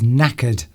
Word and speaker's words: knackered: Human being says knackered. Knackered begins with K. There's a brilliant word. K. the silent K. A silent K.